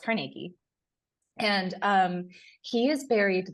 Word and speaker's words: Carnegie: Carnegie buried there and people are people say carnegy Hall but it was actually according to the